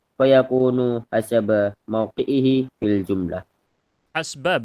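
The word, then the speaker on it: حسب: hasba biasanya saya tahu saya bacanya. Entah ada yang baca hasaba kurang tahu, tapi biasanya hasba, sinnya disukunkan.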